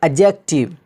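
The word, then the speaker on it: adjective: डी के बाद जे आ जाए तो डी साइलेंट हो जाता है, जिसको कह सकते हैं आप, यहाँ पे क्या होगा, एडजेक्टिव, एडजेक्टिव, जिसका माना होता है सिफत, खासियत।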